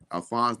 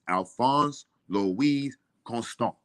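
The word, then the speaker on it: Alphonse Louis Constant: pronounce it pronounce it he says Alpha Alphonse the wig constant because I said Alfonso but we constant he said no it's Alphonse Louise constant and that's elephants Levi's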